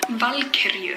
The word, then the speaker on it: Valkyrie: Now, some people are gonna take issue with my pronunciation, Valkyrie, but in my defense, it is actually pronounced as Valkyrie.